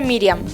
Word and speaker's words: Miriam: Y ya dijimos que su nombre en hebreo se dice Miriam. ¿Cómo se dice entonces el nombre de María en hebreo? Se dice Miriam.